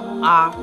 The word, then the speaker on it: Amaarae: up this is Amar the way to pronounce my name is arar simple sweet short Amari is a Ghan